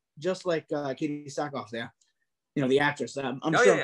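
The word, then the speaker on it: Katee Sackhoff: Her face sculpt, looks just like Katie Sackhoff there. The actress. I'm sure I'm pronouncing her name wrong. I'm probably gonna get hit, but that's all right. No, you're right. It's Katie Sackhoff.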